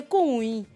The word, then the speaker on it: Koun: Koun, en fait, vient de l'Agni-Bona, à l'origine prononcée Kounui, qui veut dire « va voir ».